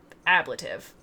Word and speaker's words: ablative: not have expected that the uh emphasis is supposed to be on that first syllable ablative it's how i'm it's